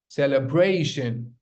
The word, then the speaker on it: celebration: Celebration, celebration, celebration, not celebration. Stop saying celebration, it's celebration. So you do not say E, don't pronounce E over here. It's the sure sound, celebrity, okay?